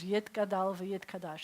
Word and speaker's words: Yitgadal v'Yitkadash: So, but the Sephardic pronunciation is Yitgadal v'Yitkadash.